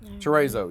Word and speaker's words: chorizo: We're gonna cook some thin cut fries, some nacho cheese sauce, some chorizo, is that right? We have a hard time pronouncing that. Chorizo, yeah. Chorizo. Anyhow, the Mexican sausage and some bacon.